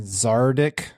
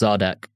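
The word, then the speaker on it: Zadek: talks to Farah and zaric it's pronounced zodak zodic and says okay we'll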